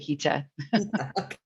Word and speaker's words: Hita: It's not spelled the way it sounds. It's actually Hita.